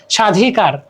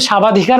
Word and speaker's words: স্বাধিকার: না ধনি ঠিক আছে স্বাধিকার এখানে আমরা কিন্তু সাবাধিকার বলতেছি না আমরা বলতেছি স্বাধিকার তার মানে কি বটা উচ্চারণ হচ্ছে না স্বাগতম সাবগতম তো বলে